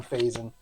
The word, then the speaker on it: Faison: We'll call him Faison. Rhymes with raisin.